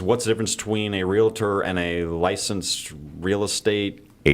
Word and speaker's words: Realtor: And that's why when people say, I'm a realtor or realtor, some people, they add that extra syllable in there.